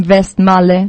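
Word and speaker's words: Westmalle: the trapist Abel um we all know um vest Mal that's correct too right all maybe it's uh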